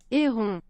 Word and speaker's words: héron: Here's how you say it in French. Get ready to write this down because I'm sure it's going to be totally different from... Heron. Héron. Héron. Héron.